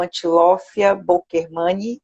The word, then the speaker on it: Antilophia bokermani: evitar a extinção de uma espécie ameaçada, o Antilophia bokermani, eu pronunciei corretamente?